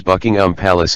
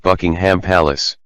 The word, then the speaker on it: Buckingham Palace: and places for example it is Buckingham Palace not Buckingham Palace it she will be getting married in st.